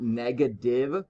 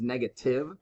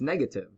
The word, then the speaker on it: negative: sang a lot and it's not negative with like a d it's negative with a t so you want to pronounce that so it's negative not negative with like a d it's negative all right so guys